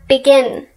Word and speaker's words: begin: on the last syllable in the case of begin the stress is indeed on the last syllable it's not begin it's begin in that case we